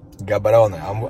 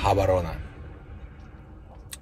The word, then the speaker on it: Gaborone: Gaborone, a tak naprawdę czyta się Gaborone. Nie wiem dlaczego, ale tak się czyta.